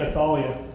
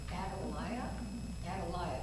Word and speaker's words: Athaliah: I'm just saying Athaliah. It says the mother of Ahaziah. Adaliah, that's the way I say Athaliah. I'm sure you could pronounce it either way.